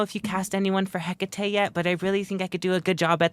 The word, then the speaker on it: Hecate: I I I I can pronounce it Hecate. I don't know why people pronounce it Hecit.